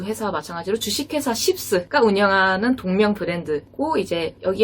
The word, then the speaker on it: SHIPS: 발음주의. 쉽스. SHIPS. 일본어 발음으로 시부스라고 하고요. 여기도 앞서 말한 두 회사와 마찬가지로 주식회사 쉽스가 운영하는 동명 브랜드고 이제 여기 같은 경우는 1977년에 긴자에 1호점을 오픈했습니다.